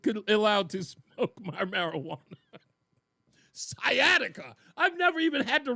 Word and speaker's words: sciatica: Is that how I pronounce that scataceia? What? I don't even know how to pronounce that. My wife's the medical person here. That word right there. Do you know what that is? Sciatica.